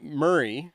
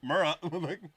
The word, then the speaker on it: Murrah: were at the Alfred Murrah building. By the way, in the first 2 episodes, I said the building name wrong. Oh, would you say? So it's not Murray. It's Murrah. Murrah.